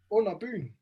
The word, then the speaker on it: Under Byen: I'll pronounce it for you. Yeah. They're called Under Byen.